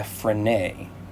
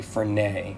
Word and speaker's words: Frenet: referred to as a frenet frame i believe that i'm pronouncing that correctly for nay after the physicist jean